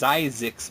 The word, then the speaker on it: Zyzzyx: If this film looks like a typo title, it's pronounced Zyzzyx, by the way, wasn't enough of a turn-off.